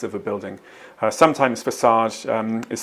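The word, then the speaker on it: façade: during the evening performances yes it sounds like she's saying fake Aid and it means Frontage so what word means Frontage and could be mispronounced as fake Aid here's the answer the the's fake a was beautifully illuminated during the evening performances yes the correct word is facade the facade of a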